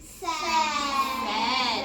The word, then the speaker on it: said: Let's say the sounds we hear. Ed. Said. We hear what sound in the middle? Eh. But are we going to spell it with our vowel E? No. We have to remember by heart. We're going to spell the E sound with the letters A, I.